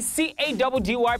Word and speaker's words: Caddy: It's your boy C-A-D-D-Y, pronounced Caddy.